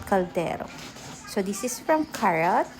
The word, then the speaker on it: Carote: So this is from carot. Tama ba yung pronunciation ko? It's carrot.